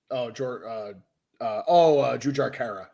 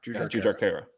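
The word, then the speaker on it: Jujhar Khaira: I always mispronounce this guy's name, and I really shouldn't. Kyra? Jujar Kara. Jujar Kara.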